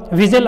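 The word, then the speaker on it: whistle: विजिल में एच थोड़ी ना पढ़ रहे हैं, देखो विजिल W आ रहा है, और टी भी जा रहा है इसमें, ये साइलेंट है, मूक है, तो क्या होगा? HNT, H और T। तो आपका ऑप्शन बी सही हो जाएगा 37 में।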